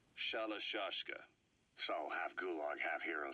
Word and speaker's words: Shalashaska: the name amongst themselves by the time I got to hearing about it pronunciation had wound up as shalashaska so half gulg half